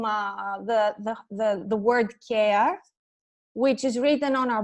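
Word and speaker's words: κέαρ: And we found the name, the word Keᾰρ, which is written on our boxes exactly as it is in ancient Greek. And it is pronounced in Greek, like care, the word for care.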